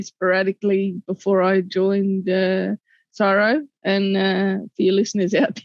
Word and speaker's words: CSIRO: before i joined uh sorrow and for your listeners out there if i say sorrow at csiro um because we're lazy we don't spell it out um so i didn't